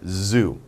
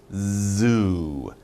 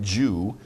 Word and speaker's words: zoo: word pronunciation z z zoo zoo not jew zoo z you got some vibration so make your mouth wide like that and make your tongue vibrate zoo and you got